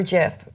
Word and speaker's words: GIF: a okay cool yeah I always forget GIF or GIF we may know it's a soft G yeah know because you know the person I don't know the person but I know that the person has a soft g j that's right 500 points